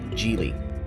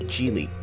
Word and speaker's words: Geely: The Haoyue is a 7-seat SUV, and the largest one offered by Chinese manufacturer Geely. Yes, it's pronounced Geely, not Geely.